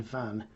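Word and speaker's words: Venn: jean van so she her name was like this j e a n v e double n e and she pronounced her name jean van so i suppose that's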